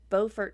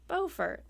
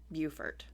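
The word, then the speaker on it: Beaufort: we're saying it it it's actually both it's bfort North Carolina and bufort South Carolina because when I was in South Carolina I was like oh bfort that's an interesting town and everyone was like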